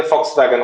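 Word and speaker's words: Volkswagen: हाँ लेकिन, यस, तो वो जो वी एल के लिखते हैं, लेकिन वो वी जो है वो प्रोनाउंस होता है फ से। इसलिए फॉक्स वैगन होता है।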